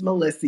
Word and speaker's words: Malysa: My name is Melissa. You spell it Malysa, but if you flip it around and pronounce it again, it sounds like asylum.